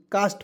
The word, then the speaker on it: caste: उसके बाद यहाँ आप देखेंगे CAST, इससे पढ़ेंगे दोस्तों कास्ट, CASTE कास्ट पढ़ेंगे, CA से किसी का उच्चारण यहाँ पे क के रूप में करेंगे, S से आधा स लिखेंगे, T से ट हो जाएगा कास्ट।